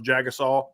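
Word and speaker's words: Jagusah: name he's like uh my name is charles jagasol and i was fired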